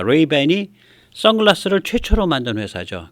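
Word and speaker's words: Ray-Ban: 안 쓰지만 옛날엔 선글라스를 라이방 라이방 그랬습니다 라방의 일본 발음으로 레이 밴입니다 레이밴이 선글라스를 최초로 만든 회사죠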